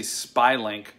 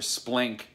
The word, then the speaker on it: SPLYNC: I always say Spylink or Splink, but it's SPLYNC.